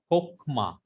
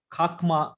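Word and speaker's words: חכמה: Kokma. Why this is brother not khakma, long comets? Why it is comet hatu? Unaccented closed. Yeah, syllable. it is closed and unaccented syllable.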